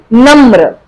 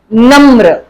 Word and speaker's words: नम्र: क्रम, नम्र, इसे क्या बोलेंगे हम, नम्र। म के साथ र लगी है तो म के साथ ही र की साउंड आएगी।